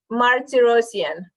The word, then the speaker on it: Martirosyan: please is that your last name no it's Marty rosian Martin I had it right one time so